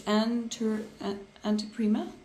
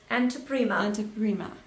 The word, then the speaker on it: Anteprima: I cannot pronounce the name of the brand. It's Anteprima. Anteprima.